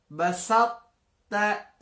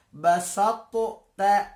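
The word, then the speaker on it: بسطت: huruf to dengan ta, maka tidak perlu dibaca basatu ta, ini salah. Tapi dibacanya cukup basatta, basatta, ya. Sifat huruf to-nya itu tetap kita berikan tapi tidak keluar. Basatta, seperti mau mengucap to tapi yang keluar adalah ta. Basatta, basatta, basatta, basatta.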